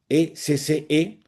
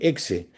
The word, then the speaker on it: ecce: O sea, es la frase en latín, ecce, he aquí, E-C-C-E, que muchas veces cuando la gente lo lee en castellano, que le dicen exe, pero la pronunciación en latín suena como una che, ecce homo, he aquí el hombre, aquí tienen al hombre.